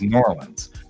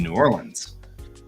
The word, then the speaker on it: New Orleans: to pronounce it is New Orleans that's not the way they pronounce it in New Orleans right well in Texas they were squishing the two words together to make it New Orleans so it's like n-o-r-l-e